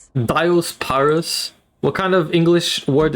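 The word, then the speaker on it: Diospyros: How do you pronounce this? The is it diosperus? Is it theosperus? Diaspirus. Diospyrus.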